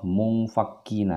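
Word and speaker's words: منفكين: Ini nun mati, ya. Nun yang bersukun. Di sini ada huruf fa. Nah, ketika nun mati bertemu dengan huruf fa, maka dia suara tanda bacanya adalah seakan-akan seperti ny. Kalau ikhfa ab'ad tadi seperti ang, kalau ini seperti ny. Bagaimana cara bacanya? Mu, jadi ngambang, ya. Mu. Jadi suara mung tidak, suara mun tidak, tetapi dia ngambang.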